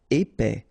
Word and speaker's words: épais: Épais, final S not pronounced, A-E together, épais, épais.